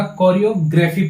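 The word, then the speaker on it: choreography: इसका प्रोनाउंसिएशन पे ध्यान दीजिएगा, कोरियोग्राफी पढ़ते हैं, ठीक है ना।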